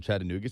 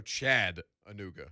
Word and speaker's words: Chattanooga: does television over in chattanooga says real chattanooga's called chattanoo chat uh nougat don't come here pronouncing the ts so chad anuga chad uh nougat chattanooga that's right okay no t's in